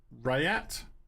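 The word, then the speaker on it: Rhett: Then there's, I think it's pronounced Rayat, R-H-E-T-T.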